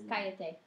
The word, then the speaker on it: cállate: Just you can't forget to accent the third to last syllable.